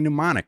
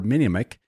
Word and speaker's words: Mnemonic: Johnny Mnemonic, or Minimic, if you can't pronounce things right.